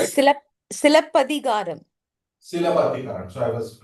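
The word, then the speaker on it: Silappatikaram: Is that the right did I pronounce it right? Silapatikaram, It right? is Silapadigaram.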